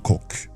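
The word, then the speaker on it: kokk: Cook, like a chef, in Norwegian is cook. By the way. So, you know, it's not quite as funny as you know, the cock and pussy, but you know. Yeah, we spell it with 2 K's at the end, so K-O-K-K.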